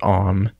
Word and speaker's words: AUM: uh I'm running a program called om it's spelled AUM I'll link to that